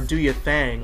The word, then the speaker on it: DoYaThing: DoYaThing, or DoYaThang as Andre pronounces it, is a song with so much in it, but at the same time seems to have so little.